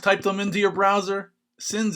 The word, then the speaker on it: Cynz: them into your browser sims is spelled c y and z but without a do here they are